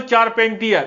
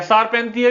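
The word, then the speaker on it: Charpentier: Emmanuel चारपेंटियर या शारपेंटियर भी बोल सकते हैं, प्रोनाउंसिएशन अलग अलग हो सकता है।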